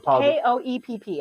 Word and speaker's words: Koepp: Koepp, I think is how you pronounce it. It's Koepp.